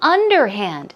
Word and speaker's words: underhand: anonymous moving on to underhand stress goes right here under hand imagine that you are